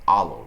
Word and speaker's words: Ollo: the credit card is called aloe and that's spelled o-l-l-o card I found out about